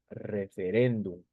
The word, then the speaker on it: referéndum: Miren, referéndum. Si tú te das cuenta, referéndum, la mayor fuerza de voz está en la penúltima sílaba.